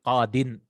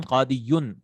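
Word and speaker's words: قاضٍ: But if the ismul manqus comes nakira, like qadin, right? Literally should have been qadiyun, correct?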